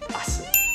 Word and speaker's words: Asen: Well, it's pronounced as Asen.